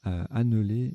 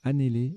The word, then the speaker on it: annéler: Alors je les ai mal prononcés tout à l'heure, j'ai dit anneler et aléner, c'est l'inverse, c'est annéler et alener, même alner.